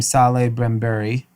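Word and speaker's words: Salehe Bembury: little differently okay so i believe you pronounce his name saleh brambury he is the footwear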